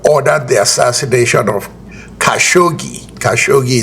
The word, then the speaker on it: Khashoggi: Kashogi is the right pronunciation.